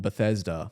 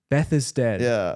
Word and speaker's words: Bethesda: what it is dude there's no D at the end of Beth isad what are you how do you pronounce it then I don't want to tell you cuz I got it wrong that's how I've always pronounced it uh I mean I've always known it to be called Bethesda Bethesda Beth is dead I